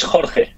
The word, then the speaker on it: Jorge: Jorge, am I pronouncing this correctly? it's Jorge. Jorge.